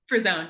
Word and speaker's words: Frisone: gosh how do you say your last name frone frone yeah frone okay yay okay frone is a subcon